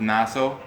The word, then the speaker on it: Nassau: It's Nassau? That's how you pronounce it?